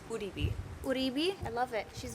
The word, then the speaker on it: Uribe: It's pronounced Uribe.